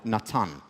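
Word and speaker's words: נתן: The name Nathan is actually in Hebrew, in the Bible, Natan.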